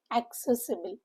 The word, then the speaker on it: accessible: Word for accessible. Focus on the spelling. It's a double C following double S. Accessible. Stress is on the second syllable among the four syllable word.